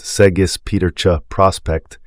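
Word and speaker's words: Segis Pieterje Prospect: famous cow without a doubt that would be seis Peter Prospect pronounced seis petera Prospect affectionately known as posum sweetheart she embodied everything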